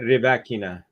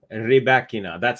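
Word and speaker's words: Rybakina: So I think she might say Rebekina, but it's actually from the players themselves. So that's really cool. So Rebekina, or let's see, I'm going to play it. Elena Rebekina. Rebekina. That's exactly how she said it.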